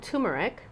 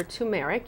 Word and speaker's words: turmeric: from home this is called turmeric or turmeric you can pronounce it either way again you can find